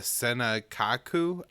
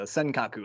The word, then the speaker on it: Senkaku: sent to defend uh the senekaku islands will die pronounce that right and uh tell us a little bit more about what's going on here yeah you're close the senkaku islands um but yeah